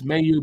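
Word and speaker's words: Mailloux: It's Mayu, by the way. Mayu, not Mayu. He's from him. That's what he says. That's how to pronounce it.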